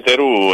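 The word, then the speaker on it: Thereau: razzista come cosa terù No perché terù è la vera pronuncia francese voi lo sapete che è francese No sotto curva nord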